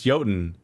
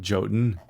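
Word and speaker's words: jötunn: half is like yeah it's it's yodan it's not jotun you fool yotan youtun did yeah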